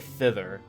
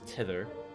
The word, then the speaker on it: thither: Whilst thou journeyest thither, I always want to pronounce it thither, but it's tither.